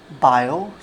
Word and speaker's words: Biot: बायो Savart's law, इसमें जो टी होता है वो साइलेंट होता है।